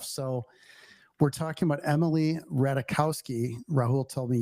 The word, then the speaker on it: Ratajkowski: So, we're talking about Emily Ratakowski. Rahul told me you don't pronounce the J.